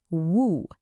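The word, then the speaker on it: وُ: This one gives us a short oo sound, so it's pronounced woo, like the beginning of the word wolf, woo.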